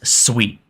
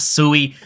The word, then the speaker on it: Sui: Aptos as well so first off what is sweet and first off what's how's it pronounced it is Sweet It Is Not sui I've been corrected multiple times so if you